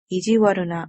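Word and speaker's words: 意地悪な: a different vocabulary word this word is pronounced as ijiwaru na which means unkind mean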